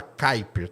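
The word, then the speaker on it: Kuiper: Se escreve cuipier, mas fala kiper, tá? Porque é da nacionalidade do cara lá.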